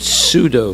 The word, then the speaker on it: pseudo: Okay, do you know what the word pseudo means? P-S-E-A-D-O. Huh? Yes, false. P-S-E-U-D-O. Pseudo. You don't pronounce the P. You just pronounce the second letter, it's S.